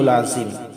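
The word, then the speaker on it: العظيم: হল আমরা হামজা বলব না অনেকে আমরা আলি আজম এখানে দেখেন হামজা নাই দুইটাই কিন্তু আইন আর আইনের উচ্চারণ হলকের মধ্যখান থেকে উচ্চারিত হবে চাপ দিয়ে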